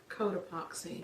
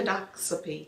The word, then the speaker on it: Cotopaxi: Cotopaxi. Population. Codoxapy. No. Cotopaxi. No.